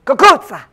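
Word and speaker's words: cucuzza: In some parts of Italy, so the Italians pronounce it kakuza, which is really how it's done.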